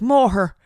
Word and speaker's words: Moher: I always say like cliffs of Moore, but then like it's spelled Moher. Moher. And then I hear the Irish, they're like more her cliffs of Moher.